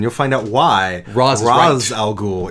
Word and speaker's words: Ra's al Ghul: find out why Roz Ra's al Ghul is the correct pronunciation so good about that